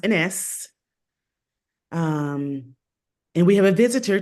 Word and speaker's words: Enesse: I just showed you here, and it's pronounced Enesse.